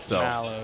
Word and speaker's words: Malo: Did you hear the pronouncer? I think it's Mallow. Mallow, yeah.